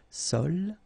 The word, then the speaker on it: sole: La sole, same thing, don't insist on the final E, okay? It only gives you the L sound, sole, l'espadon.